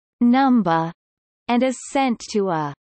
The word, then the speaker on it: Numbuh: Following a period of training, every member of the Kids Next Door chooses a number or alphanumeric code, deliberately pronounced and spelled as Numba, and is sent to a sector that acts as their home base.